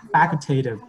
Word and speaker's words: facultative: So how do you say that, you know, the second part? You just say, you know, tative, right? And then you add facultative. So facultative.